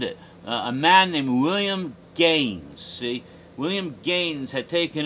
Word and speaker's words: Gaines: Max Gaines, originally in the old country, it was spelled G-A with umlauts N-C. It's pronounced Gaines.